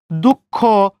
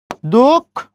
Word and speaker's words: দুঃখ: তাহলে একই নিয়মের ভিতরে আমরা যদি বলি দুঃখ, তাহলে কেমন হবে? 10 করে 2, বিসর্গের পরে খ আছে, খর উচ্চারণ 2 বার, দুঃখ।